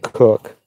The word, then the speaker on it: Koch: but he spelled it he pronounced it cook even though it was